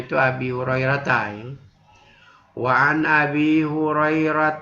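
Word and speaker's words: أبي هريرة: Jadi bacanya itu Abi Hurairah ya.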